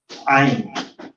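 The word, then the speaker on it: عين: Ito naman, wala siyang katumbas sa English. Dito siya nagagaling sa gitna ng throat. Ain, ain, ain.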